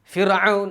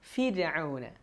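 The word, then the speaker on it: فرعون: ഫിർഔന വസമൂദ്. ഫിർഔന നമ്മൾ മലയാളത്തിൽ മൂസാ നബിയുടെ ചരിത്രമൊക്കെ പറയുമ്പോൾ ഫിർഔൻ എന്നൊക്കെ പറയും ദേഷ്യം കൊണ്ട്. പക്ഷേ നമ്മൾ അറബിയിൽ പറയുമ്പോൾ ഖുർആനിൽ ഓതുമ്പോൾ ഫിർഔന റ നല്ല ര റാഇനെ തർക്കീഖ് ചെയ്ത് നേർപ്പിച്ചാണ് പറയേണ്ടത്.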